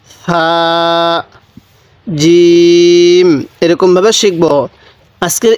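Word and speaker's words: حاء: যায় এরপরে হা এই এটা হলো বড় হা এই হা টা উচ্চারণের সময় আমরা মুখ দিয়ে হালকা বাতাস বের করব তবে হা আর জিমের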